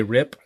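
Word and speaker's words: Ryp: and the artist by this guy Juan Jose rip that's how you pronounce his name came out in 2007 the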